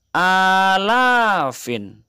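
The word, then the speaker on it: آلاف: Maka cara pengucapannya salah satu alafin. Dipanjangkan ya nak, antara a dan la. Salah satu alafin, artinya 3000. Kita lanjutkan ke 4000, cukup merubah arba'atun menjadi arba'atu tambah alafin, menjadi arba'atu alafin 4000. Khamsatu alafin 5000, sittatu alafin 6000,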